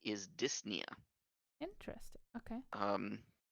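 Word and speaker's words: dyspnea: the technical name is disia interesting okay um spelled very similarly but the p is silent so disp niia but just don't pronounce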